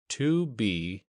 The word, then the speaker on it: 2BR02B: The 0 in the telephone number he pronounced not. The number was 2BR02B.